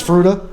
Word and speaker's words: Fruita: calling it frita forever and I just found that it's fruta yeah so I apologize for that yeah well my wife was born in Cuba so I tend to say things at the Spanish pronunciation but thank you so